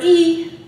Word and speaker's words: I: The I is actually pronounced as an E, and it's a marker.